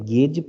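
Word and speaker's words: gauge: हम कहते हैं, अच्छा इसको कई लोग अलग अलग तरीकों से प्रोनाउंस करते हैं, कुछ लोग कहते हैं गेज प्रेशर, कुछ लोग कहते हैं गॉज प्रेशर, तो आप कुछ भी बोल सकते हैं।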